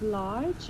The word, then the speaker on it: large: with a pronunciation of large um I think who wrong also just remember we say it like large large so it sounds almost like that Mak sense um large we don't pronounce the e um otherwise very good